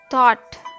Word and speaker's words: thought: The silent letters in thought are G, H.